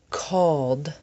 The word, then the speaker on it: called: Called, filled, pulled. The sound at the end of these words is old, old.